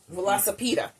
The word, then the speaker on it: Vasilopita: How do you pronounce it again? I got to look it up. Vasilopita cake.